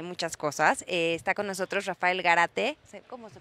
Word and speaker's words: Rafael Gárate: Está con nosotros Rafael Garate, ¿cómo se pronuncia? Rafael Garate. Garate, que es director general de Luxury Premium and